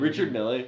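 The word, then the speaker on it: Richard Mille: those Richard me what is how do you pronounce his name? Richard Millle. Yeah, Richard Mills are so ugly.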